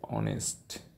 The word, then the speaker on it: honest: not uh pronounced here honest and honor H is not pronounced and our h o